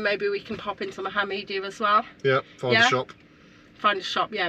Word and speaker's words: Mohammedia: Mohammedia. It is. Look, it's like Mohammed, but he's got a really good media system.